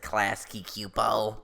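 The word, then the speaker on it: Klasky Csupo: It's like Klasky Cupo.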